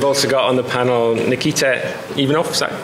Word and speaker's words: Nikita Ivanov: And we've also got on the panel Nikita Ivanov, is that how you pronounce it?